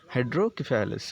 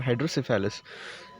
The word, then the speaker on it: Hydrocephalus: सेफॅलस in some regions सेफालस is pronounce सेफलस और केफॅलस हायड्रोकेफेलस और हायड्रोसेफालस so here we R pronouncing हायड्रोसेफालस so hydro it इज